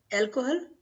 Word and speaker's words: alcohol: Alcohol, alcohol, alcohol. Because H is silent. In Spanish, H is always silent.